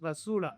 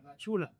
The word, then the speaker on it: La Chula: How do I pronounce it? La Chula. La Chula.